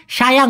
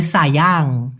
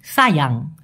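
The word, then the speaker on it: sayang: দেখুন সায়াং মূলত ভাইয়া সায়াং হবে না হ্যাঁ ওরা এই এস কে সবসময় স এর মত উচ্চারণ করে এজন্য হবে সায়াং সায়াং এক প্রিয় অথবা প্রিয়তমা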